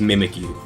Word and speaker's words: Mimikyu: it it's still pronounced mimic you, but it sounds like Pikachu because it's mimicking Pikachu both visually and in name.